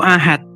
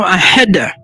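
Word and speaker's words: أحد: Bacanya bukan Qul huwallahu ahad, tapi Qul huwallahu ahad. Harus ahad gitu.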